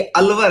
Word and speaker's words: अलवर: मैं समझ सकता हूं, कई जगह स्पेलिंग लिखी आ जाती है अलवर। अब कोई बाहर का व्यक्ति है, इसको पढ़ता है अलवार। अब हमको बड़ा दुख होता है कि यार तुमको पढ़ने में नहीं आ रहा है क्या, मतलब इतनी